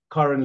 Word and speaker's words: Karen: It's pronounced Karen, Karen, actually, but I answered to Karen.